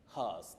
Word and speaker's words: hearse: That lady asked us, do we say hears? Is it has? Is it what? Anyway, it takes the sound her, hers.